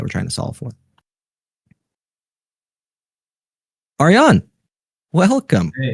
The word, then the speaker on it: Aryan: I have a history of mispronouncing basically everyone's names, but I promise I'm trying my best. Uh, it's Arian.